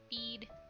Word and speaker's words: Bede: Bede? I feel like I switched how I pronounce his name. Bead. I like saying Bead.